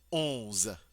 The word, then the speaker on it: onze: En français, on dit onze, onze, onze. Notice we don't hear the end. It's part of that nasal sound.